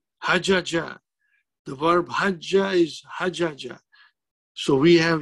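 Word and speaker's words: حج: On one jim, we give sukoon so that we can pronounce it nicely. It is still three-letter verb. It is still hajaja. But now we say hajja, which means it is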